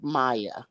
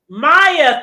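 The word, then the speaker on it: Maija: here to say this it's spelled m a what i j a yeah I pronounced Maya Maya thank you cuz that's what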